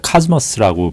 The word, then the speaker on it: cosmos: 일단 이걸 이제 발음은 코스모스인데 카즈머스라고 발음을 보통 하더라고요. 근데 꽃도 코스모스라는 꽃이 있죠.